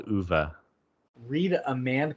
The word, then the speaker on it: Ove: Tell her to read A Man Called Uva. Read A Man Called Uva. It's spelled Okay, O-V-E.